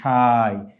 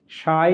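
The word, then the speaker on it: شاي: চা আরবি হচ্ছে শাই এখানে শিনের সাথে একটা আলিফ আছে তারপরে একটা ইয়া এখানে আমরা উচ্চারণ এভাবে করবো শাই আনা উফাদ্দিলুশাই অর্থ আমি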